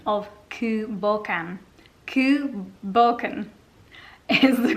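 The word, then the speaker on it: Cù Bòcan: online with the correct pronunciation of ku balkam ku balkan is the correct pronunciation not cuba can as i have just been calling it i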